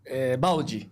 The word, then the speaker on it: Baldi: Pronunciei correto seu nome? Baldi. Baldi. Baldi. Ok. É igual o balde de água mesmo, então. Isso, Baldi.